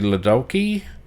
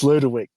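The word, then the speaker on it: Ludowyke: Um, Archie Liddulki uh, obviously a big forward. Um, take a little bit longer. You butchered that, right? What is it? Ludaki. Lulki. Liddalki. It's Ludwick.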